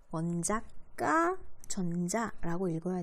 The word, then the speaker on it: 원자가 전자: 이거 읽을 때 발음부터 조심해야 돼. 원자가 전자라고 읽으면 땡. 원자가 전자라고 읽어야 되고 여기는 가운데는 띄어쓰기를 해줘야 제대로 된 단어입니다.